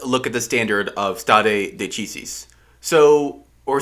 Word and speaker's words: stare decisis: It's pronounced a lot of different ways, but I say stare decisis, and some people say stare decisis, or something like that, because, I don't know, because they don't speak Latin, I guess.